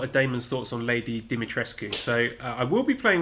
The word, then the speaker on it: Dimitrescu: I know they said the pronunciation is Dimitris, but that's not how the surname is pronounced. It's a Romanian surname. There have been footballers with the surname Dimitrescu. It's pronounced Dimitrescu.